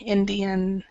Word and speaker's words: Indian: Okay, so try to remember it's Indian. So try to pronounce the N here. Indian. Okay, Indian.